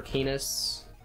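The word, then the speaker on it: Canas: We do get Canis, though, on this chapter, or Canis. I don't want to say that, because it rhymes with anus.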